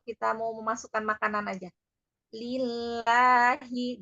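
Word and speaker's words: لله: mau memasukkan makanan aja lillahi jadi jangan lillahak enggak terlalu lebarb lagu sajaulangan I jadi catatannya kalau pengucapan mak eh huruf yang berharakat fathah itu rahang tidak boleh terlalu lebar ya Heeh I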